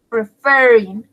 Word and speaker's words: preferir: excellent además de eso la última sílaba está acentuada pues lleva el énfasis como el acento por ser prefiero entonces por eso dijo preferir sería preferir referir y sería con doble